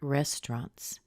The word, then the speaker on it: restaurants: to talk about restaurants make sure that you don't put the AU in their restaurant and anytime you talk